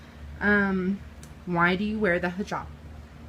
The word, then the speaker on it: hijab: Hijab.